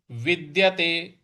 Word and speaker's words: विद्यते: विद्यते, जो द है इस पर हम थोड़ा सा बल लगाएंगे।